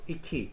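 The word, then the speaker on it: iki: all right so let's see here number two eeky eeky you know which is very similar pronunciation as an english year eeky eeky ok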